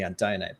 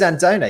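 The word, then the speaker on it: Andone: you off on the anday pronunciation i looked up the romanian pronunciation and it is andona even without the accent on the e uh so who knew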